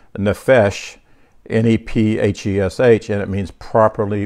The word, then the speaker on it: nephesh: I first found Hebrews, the Hebrew number 5315, and it's nephesh, N-E-P-H-E-S-H, and it means properly breathing.